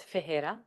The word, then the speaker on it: Ferreira: Yeah, it was fun, and I was told that I pronounced my last name incorrectly. It's Ferreira, and so I asked this board to help normalize the correct saying of it.